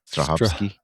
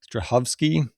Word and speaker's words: Strahovski: Ivan, how do you pronounce her last name? Strahovski. Strahovski.